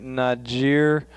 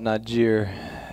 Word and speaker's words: Niger: So you're going to Niger. We call it Niger. You got the French pronunciation of Niger.